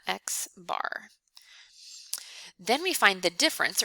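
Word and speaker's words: x̄: all the data and we call this x bar we pronounce that x bar then we find the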